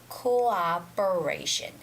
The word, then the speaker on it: cooperation: cooperation that's wrong no cooperation is wrong you have to say cooperation cooperation you have to separate those two o sounds so the first o would be co and the second o would be ah and then variation cooperation